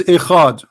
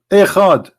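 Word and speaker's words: אחד: O Israel, your God is Echad. Echad. This is the word ahad. They have even the same pronunciation.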